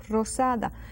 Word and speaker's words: rosada: so so strong Ros rosada actually it's like a Double R sound again Ros rosada as long as that R is being heard it's fine Rosado rosada it's just